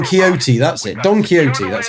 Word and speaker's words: Don Quixote: Don Quixote, that's how you say it.